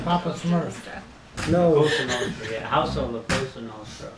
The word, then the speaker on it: Cosa Nostra: was just telling you that's the way they pronounce the mob. That's the La Costa Nostra. That is a gorgeous picture of Mike and what's Joe. his name, Papa Smurf. no, Cosa Nostra, yeah.